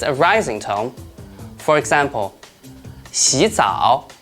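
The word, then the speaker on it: 洗澡: When 2 third tones are combined together, the first one will change into the second tone, which is a rising tone. For example, 洗澡，洗澡，老虎，老虎，勇敢，勇敢.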